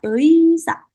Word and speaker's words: 의사: Jadi di sini kan tulisannya ei ya teman-teman ya, 의사. Tapi cara pronunciation-nya lebih baik teman-teman huruf e-nya kita hilangkan saja. Jadi lebih dominan yang huruf i-nya. Jadi lebih baik langsung 의사.